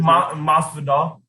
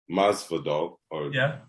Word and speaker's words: Masvidal: So but the person you said is it Mazda? How you say it? Masvidal. Masvidal. Masvidal.